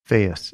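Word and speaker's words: Faeth: How do you spell that? Faith, F-A-E-T-H, which is a Welsh name for health, F-A-E-T-H.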